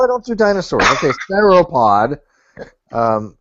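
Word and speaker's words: sauropod: You you say sapod and it's not it's not spelled that way. It's not pronounced that way. It's saupod. Whatever. That's why I don't do dinosaurs. a soropod.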